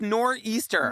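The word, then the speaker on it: nor'easter: It's pronounced nor easter one ruins the whole noraster.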